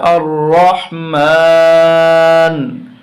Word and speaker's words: আর রহমান: পেশ নু মানু আরহান যখন এখানে আমরা থেমে যাব উচ্চারণটা হবে আর রহমান আর রহমান প্রথম আয়াত হয়ে গেল